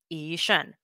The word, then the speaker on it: Yi Shun: And Taiwanese, my name is pronounced Yi Shun with a hard G. Nothing at all like how it's pronounced in Mandarin, Yi Shun.